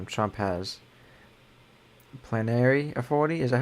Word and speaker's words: plenary: He freezed when he was saying Trump has plenary authority.